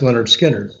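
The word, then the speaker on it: Lynyrd Skynyrd: that's when skinner released their first album um pronounced leonard skinner so i became really good friends with those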